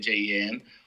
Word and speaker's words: Jean: That's how you say it, Jen.